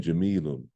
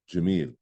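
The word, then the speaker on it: جميل: a beautiful house now Jamil ends also with two dumbass but I'm not pronouncing it I'm not saying Jamila I'm saying Jameel because I'm ending with it that's the principle okay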